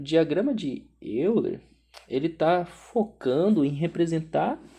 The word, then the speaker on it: Euler: é o diagrama de ven Euler né Euler Euler se pronuncia mais ou menos assim e a a